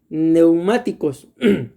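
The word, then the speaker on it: πνευματικός: En español se traduce como espiritual, pero la palabra griega se pronuncia neumáticos.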